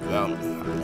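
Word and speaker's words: Valkenhayn: That's how you pronounce it, Valkenheim.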